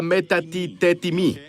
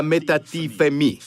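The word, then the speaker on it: μετατίθημι: Quiero que todos busquen en sus Strongs y digan, oye, se pronuncia metatitetimi, ¿de acuerdo? Pero en griego se pronuncia metatifemi, femi, ¿sí?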